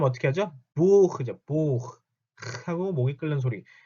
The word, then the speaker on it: Buch: 자, 이거 발음 어떻게 하죠? Buch죠.